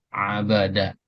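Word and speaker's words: عَبَدَ: Huruf ain, huruf ba, dan huruf dal dengan harakat semuanya fathah. Abada.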